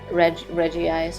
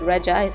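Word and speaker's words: Regice: It's always a funny name to try pronouncing because it only has one I, and usually you say Reggie, but that one you just go with Reg Ice, I think.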